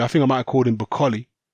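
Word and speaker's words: Okolie: think I might according bakkali that's how you pronounce Lawrence Akalis name by the way I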